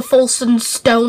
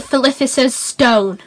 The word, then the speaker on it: Philosopher's Stone: I bet when this Harry Potter film comes out, the Folsom Stone or whatever it's called. It's pronounced the Philosopher's Stone, you muppet.